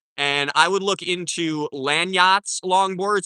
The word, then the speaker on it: Landyachtz: And I would look into Landyachtz longboards. It's spelled kind of weird.